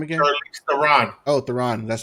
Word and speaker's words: Theron: Oh, Theron.